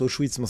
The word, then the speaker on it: Auschwitz: Bon, déjà, il sait même pas qu'on prononce Auschwitz.